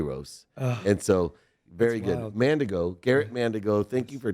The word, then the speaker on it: Mandigo: you i gotta i gotta say i've been mandingo since i was a kid it's actually pronounced mandigo amanda go you're the first person just so